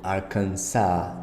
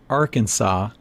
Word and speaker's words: Arkansas: API uh transcription here you see that the S is not pronounced at the end so it's again Arkansas Arkansas California Colorado Connecticut look